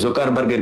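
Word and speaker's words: Zuckerberg: এই জোকারের বিরুদ্ধে, এই জোকারবার্গের বিরুদ্ধে। আমি ওকে জোকারবার্গ বলবো, জোকার ওর নাম হচ্ছে অ্যাকচুয়াল উচ্চারণ হচ্ছে জাকারবার্গ।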